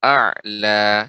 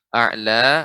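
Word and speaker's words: أعلى: Sudah cukup bagus, namun harus diperhatikan yang panjangnya 2 harokat ya, jangan sampai berlebih atau bahkan kurang, misalnya a'la cukup 2 ya, tidak juga a'la atau terlalu pendek a'la, ini terlalu pendek.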